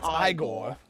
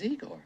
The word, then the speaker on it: Igor: No, it's pronounced Igore. But they told me it was Eigor.